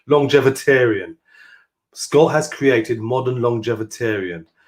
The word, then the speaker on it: Longevitarian: Longevitarian.